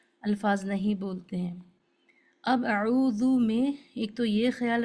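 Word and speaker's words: أعوذ: ایک جو بڑی غلطی ہوتی ہے اعوذ میں، لکھا تو یہ ہے جو صحیح ہے اعوذ ذال کے ساتھ میں ذو، لیکن لوگ اس کو کیسے پڑھتے ہیں، عین کو واو سے بدلتے اعوذ پڑھتے اعوذ.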